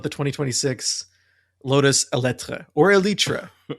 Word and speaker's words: Eletre: I'm starting to realize that maybe the pronunciation is elytra because there used to be a car called the Lotus Elite and they're trying to do like a heritage thing.